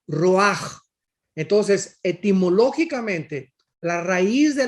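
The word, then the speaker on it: רוח: Y aquí la palabra espíritu es la palabra roach, con CH, porque la CH en el hebreo se pronuncia como J, roach.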